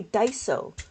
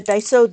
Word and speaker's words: Daiso: You if you want to to if you wanted the 13 column one, you might want to try Daiso.